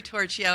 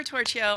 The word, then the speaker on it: Torchio: my name is tortilla and I love the way she pronounce my name louder that's how they say it in Italy where my ancestors are from and so I'm tortilla I'm here representing the